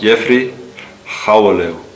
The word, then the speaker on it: Jeffrey Gouweleeuw: Aber wie wird der denn nun korrekt ausgesprochen? Ja, mein Name ist Jeffrey Chaweliu.